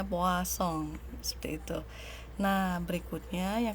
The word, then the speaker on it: Poisson: binomial yang kedua adalah distribusi puas song ya bacanya Boa song seperti itu Nah berikutnya